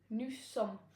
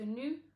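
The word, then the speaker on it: nous: is new and that's going to be new new don't pronounce the e s it's silent so new new next up we have the formal and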